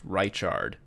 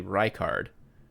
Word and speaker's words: Reichard: I tell you what I would have bet money that his name was pronounced Richard uh which he has provided a pronunciation guide that is actually Reichard which oopsie I'm sorry